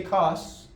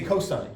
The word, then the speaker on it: cosine: We don't say cos, we say cosine. We don't pronounce the abbreviation.